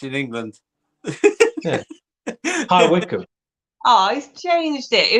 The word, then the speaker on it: High Wycombe: Can you pronounce it? Yeah. It's North Wickham. It's in England. Yeah. High Wycombe.